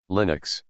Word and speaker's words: Linux: OS x over windows Linux Linux pronounced Lin UX is a family of